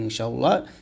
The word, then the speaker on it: ইনশাআল্লাহ: আর ভালো করে জানবেন ইনশাআল্লাহ এটার কি হাদিস আছে তো অবশ্যই আপনারা ইনশা এখানে অবশ্যই গুণনা করবেন ইকফা গুন্না করবেন এখানে ইনশাতে চাই দিতে হয় শুদ্ধ করে উচ্চারণ করলে ইনশা আল্লাহ এরকম তো